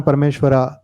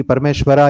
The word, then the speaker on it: परमेश्वर: आपकी एक और किताब कृष्ण परमेश्वरा कुछ ही समय में आने वाली है. हालांकि मैं जानता हूं कि परमेश्वरा योगेश्वरा नहीं बोलना चाहिए, योगेश्वर परमेश्वर है, पर ये स्पेलिंग है.